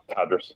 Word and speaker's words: Tadrus: how did you end up creating, am I pronouncing it right, TADRUS Capital or TADRUS Capital? TADRUS. Yep, very close. TADRUS, okay.